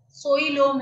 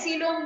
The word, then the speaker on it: coelom: सीलोम की spelling बहुत सावधान, सोइलोम है वो, है सीलोम बोलते हैं उसको, बट स्पेलिंग इज COELOMA.